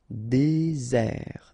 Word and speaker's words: désert: Désert, okay, remember, final T not pronounced, désert, and really this z sound just because you get one S between the two vowels, okay, z, désert. Décider, okay, remember, accent aigu